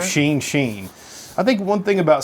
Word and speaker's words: Shin Shin: Pronounced Sheen Sheen. I think one thing about Side Project, go ahead. Oh, like Charlie Sheen? Yes. Okay. Yes, so right. Sheen Sheen.